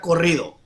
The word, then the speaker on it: Corrido: So it's Tequila Corrido. Corrido, right? Corrido. Yeah, you gotta really roll your R's.